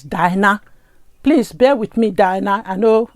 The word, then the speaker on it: Dyna: what you get with diana oh i keep calling her diana it's dinah please bear with me dinah i know i keep calling your name wrong so please bear with